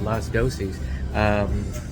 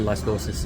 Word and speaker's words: Las Dosis: So this is out here at Las Dosis. Or Las Dosis, if you want to say it correctly.